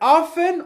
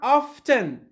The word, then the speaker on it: often: next one it's a normally we can pronounce it in two ways two different ways either often or often so often is correct